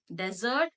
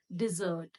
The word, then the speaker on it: dessert: This word again has been confused a lot of time in its pronunciation with the word this, desert, but it is not desert. This is desert, but this word is dessert.